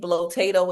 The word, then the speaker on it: Blotato: Blotato is one. It's spelled like potato, but with the letter B in the front.